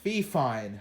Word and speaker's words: Fifine: I know I made a short a couple weeks ago about this mic, and I said fine, and I don't want to talk about it. It's Fifine, as I've been told.